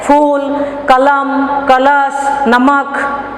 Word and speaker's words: कलम: तो देखिए इसका अंत में क्या आया, अ उच्चारण आया। तो ज्यादातर लोग क्या करते हैं, कलम कहते हैं, लेकिन हिंदी में इसको कलम नहीं कहते।